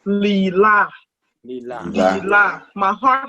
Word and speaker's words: Leelai: The actual pronunciation is Leelai.